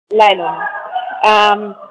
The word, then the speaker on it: Lailuma: That's the way your name is pronounced, Lain, it's correct? Like Lailuma. Lailuma.